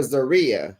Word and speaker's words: Zaria: We call her Zaria. Her mother calls her Zariua.